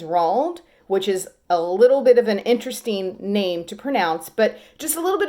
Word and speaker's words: Roald: A lot of people think his name is Ronald, but it's not. It's Roald, which is a little